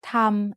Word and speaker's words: ธรรม: way to write สระอะ But if there are 2 รอเรือ attached to an initial consonant with no final consonant in the syllable, then we pronounced it อัน We have a special